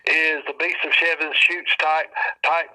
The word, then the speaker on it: Chutes: And then the damn picture came out of the Beast of Seven Shoots. Mm-hmm. You can look it up online, the Beast of Seven Shoots. And its Shoots is spelled Chutes.